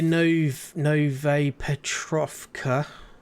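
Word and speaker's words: Novaya Petrovka: Okay, so we are near Nove Petrovka.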